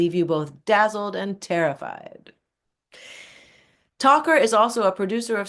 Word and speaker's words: Tocher: When I think 2 years ago, she finally learned that my last name is pronounced Tocher, and she thought it was Tocher.